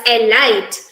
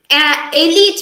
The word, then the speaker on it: elite: elite yes you're correct some people read this word out as a light but this word is supposed to be read as it's supposed to be pronounced as elite elite means a group of people who hold a superiority over others for example the elite of the military or the elite of the british army so this word the correct pronunciation here is elite instead of alight these words too they